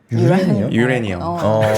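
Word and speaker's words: uranium: 이제 우라늄을 이제 여러분들이 미국 주식시장에서 공부하다 보면 우라늄이라 안 하고 유레니엄이라고 하거든요. 유레니엄. 발음이 그래요? 네, 참. 참고로 알아주시면 우라늄이 아니라. 우라늄. 유레니엄인데 네.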